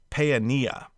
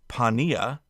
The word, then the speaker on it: Paaneah: But as a rule, you may want to, if there's multiple vowels, go ahead and pronounce both sounds. So for example, Zaphnath, no problem. But Paeania, you're essentially looking at two different A sounds, pa and a. So Paeania. But if you say Pania, that's fine too.